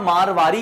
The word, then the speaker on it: मारवाड़ी: अब देखिए यहां मारवाड़ी कहा है, वैसे इसको हम मारवाड़ी कहते हैं, तो मारवाड़ी, अभी इंग्लिश में मारवाड़ी लिखा है लेकिन इसको मारवाड़ी प्रोनाउंसिएट करते हैं, तो मैं मारवाड़ी ही कहूंगा।